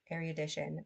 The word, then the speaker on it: erudition: to those really thoroughgoing scholars whom erudition, erudite, erudition qualifies to deal with such topics, and tedium does not deter.